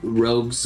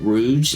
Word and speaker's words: rogue: right so ro ro Rogues gallery yeah we may call pronounce it Rouge but it's not how you pronounce it it's called rogue's Galler rogue's gallery and